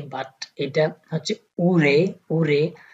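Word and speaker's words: 올해: হে, রিডিংটা মূলত হচ্ছে উল হে বাট এটা হচ্ছে উরে, উরে রিউলের পরে যখন হিউত আসে তখন কোরিয়ানরা সেই হিউটাকে উচ্চারণ করে না, সো এটা একটু হালকা বাতাস দিয়ে রিউলটাকে হিউতের স্থানে উচ্চারণ করা হয়।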